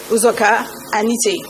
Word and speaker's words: Uzoka-Anite: I would like to repeat my name because I know I've heard so many versions of my name. It's Doris, we spelled with one R, Nkiruka, Uzoka, with a hyphen, Anite.